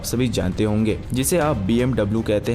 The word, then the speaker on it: BMW: में तो साफ साफ BMW लिखा हुआ है। हाँ, ये सच है, पर BMW एक जर्मन कार कंपनी है और जर्मन लैंग्वेज में W को V की तरह प्रोनाउंस किया किया जाता है।